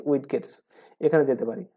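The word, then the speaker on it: widgets: তো উইডগেটস গুলোতে বা অনেকে এটা উচ্চারণ করে উইজেটস, আপনি যেমন পছন্দ করেন সেমনভাবে উচ্চারণ করতে পারেন, অ্যাকচুয়াল উচ্চারণ আসলে উইজেটসই হবে।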